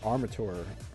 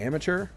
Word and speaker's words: Armature: By the way, this game is by a company called Armature Games. I feel like I want to say amateur, and like as if they like misspelled it, but it's Armature is how it's spelled.